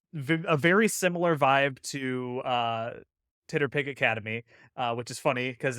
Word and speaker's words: TTRPG: and Penny runs the Titterpig Academy Discord. The Titter Titterpig pick for Tit- TTRPG. tip- tip- tip- tip- Titterpig for TTRPG. Yeah, it's just phonetically Titterpig, TTRPG. The Titterpig Academy, it's so